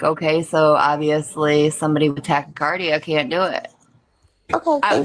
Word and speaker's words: tachycardia: participate in a polygraph test because you have tachycardia or however it's pronounced, but your heart beats faster. It's tachycardia. Tachycardia, yes.